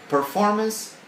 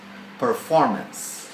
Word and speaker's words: performance: an e sound so performance performan office officy etc etc so forget about it let us pronounce the words correctly Repeat Performance uh-uh not performanc performance right office office home